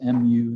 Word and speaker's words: mu: So it's mu is how it's pronounced. It's another Greek letter.